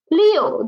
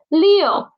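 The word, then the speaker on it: 六: it's a third tone next one is six leo this is the gesture for six in china okay six looks like this okay next one leo leo leo leo the initial is and the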